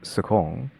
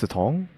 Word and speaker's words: Sicong: It sounds like a T sound but it's pronounced or it's spelled with a C. So your first thing is to assume it's Sukong, but no, it's Satong.